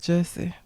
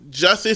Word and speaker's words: Jussie: Damn it, Jesse. Jussie Smollett. That's how we've been saying his name wrong.